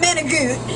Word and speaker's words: manicotti: I'm not Italian, so I actually say it the way it's spelled. What are manicotti. You? Manicotti. Not manigut. Yeah, man. Or manigut.